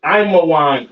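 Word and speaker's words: עמון: Ammon, all right, Ammon, which is Imawan in the Hebrew.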